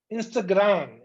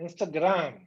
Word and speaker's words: Instagram: I hear people saying Instagram, Instagram. But in Portuguese, It's fine here in Brazil, but if you're traveling, you want to say Instagram, Instagram. Pronounce for the M sound, okay?